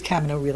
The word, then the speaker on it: Camino Real: in Camino Real, and it is Camino Real, it's the American pronunciation, not the Spanish pronunciation, in the Tennessee Williams play.